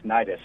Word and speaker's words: Nidus: How do you pronounce the name of the company? Thanks for having me and it's Nidus.